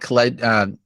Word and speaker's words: Khaled: DJ Khalid. No. Oh, DJ. Yeah. DJ Khaled. Thank you. I was saying it wrong, but I can fix that up.